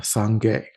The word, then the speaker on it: Sangye: Buddha, it is, uh, Sangye. Uh, s a n g g y a. And those are two syllables, and they mean fully developed, and they mean fully purified.